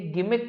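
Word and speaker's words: gimmick: पहले तो इसका प्रोनाउंसिएशन सही करें, ये गिमिक है, गिमिक, ठीक है, जिमिक नहीं पढ़ेंगे, गिमिक पढ़ेंगे। तो ये इसके क्या होगा बेटा, सारे सिनोनिम।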